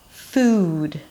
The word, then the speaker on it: food: It's kind of like I'm starting really relaxed and then I tense up and form up the sound as I pronounce it.